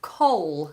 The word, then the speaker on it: coal: Black English before okay the difference in pronunciation between call I'll call you and coal that you burn on a fire or for a barbecue call has that long or Val and coal Oh Oh is a diphthong call Coll Coll Coll